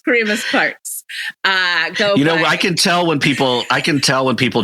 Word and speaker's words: Kyremes-Parks: And last name is, is Kyremes-Parks. It's pronounced Kyremes-Parks.